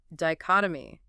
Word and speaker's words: dichotomy: Fourth noun, dichotomy. D-I-C-H-O-T-O-M-Y. Stress. Dichotomy. Stress on the second syllable. Chot. 4 syllables.